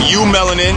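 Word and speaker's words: eumelanin: okay there's two types of melanin you have you melanin and you have phthalo melanin you melanin is spelled e-u-m-e-l-a-n fail melon in the spell p-h-a-e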